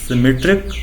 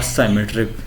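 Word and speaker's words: symmetric: सिमेट्रिक और साइमेट्रिक जैसे आप प्रोनाउंस करें आप कर सकते हैं, बिकॉज देयर इज़ नो, आपके पास कोई रिस्ट्रिक्शन नहीं है प्रोनाउंसिएशन की।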